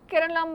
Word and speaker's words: Keralam: केरला pronounced as Keralam by the local people is bordered by the